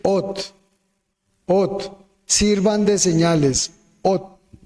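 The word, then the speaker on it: אות: el idioma hebreo y se pronuncia fonéticamente OT.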